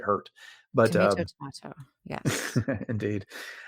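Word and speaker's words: Hert: I think they pronounced it hurt but um Tomato.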